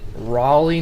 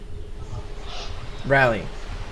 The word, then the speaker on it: Raleigh: when i read it i read um rally like i can understand the name rally that's how i pronounce it i thought that's how it was pronounced because being from oklahoma i never hear anyone say riley north carolina so whenever i read